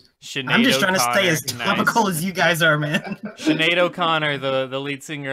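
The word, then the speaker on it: Sinéad: you call a skinhead no sin had its Sinead but I was a kid I pronounced it I see what she dear on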